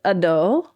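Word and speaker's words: adho: Um, so it is a short a. So it's ado ado ado.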